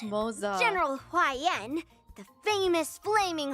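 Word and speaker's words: Moze: And as for the Xianzhou Juming, me and Grandpa, Oh, it's pronounced Moza.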